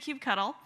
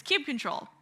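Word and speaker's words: kubectl: first word there so I was saying Cube cuddle he was saying Cube CTL and apparently according to the actual like uh 1 nine release it's Cube control but if I screw up and say it wrong you can all yell at me later or maybe you have a different way of saying it I've heard Cube ectl which we are both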